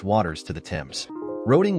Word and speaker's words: Roding: Waters to the Tims roding was sometimes pronounced ruing a name going back